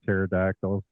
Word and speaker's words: pterodactyl: I you can't hear pterodactyl go to the bathroom no because the p is silent oh deja vu all